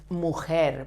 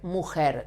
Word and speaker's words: mujer: We pronounce the J like when you say he in English, he, but with more force and vibrating your throat while you spell the R, as if you choked.